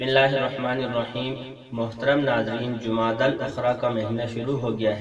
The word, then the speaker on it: جمادی الاخری: کا چھٹا مہینہ ہے۔ اس مہینے کے نام کا صحیح تلفظ وہ جمادی الاخری ہے اور اس کو جمادی الاخرہ بھی کہا جاتا ہے۔ بہرحال تو اس مہینے